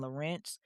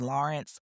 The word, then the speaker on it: Lorincz: her name was Susan Lorent, but it actually is Lawrence. Um, it's just spelled different. It's like L O R I N C Z, so it's pronounced Lawrence, but for whatever reason, I said Lorent in the promo video.